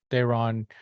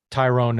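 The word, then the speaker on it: Thayron: So I met Dayron. Tyrone is actually what it is. It just spelled weird.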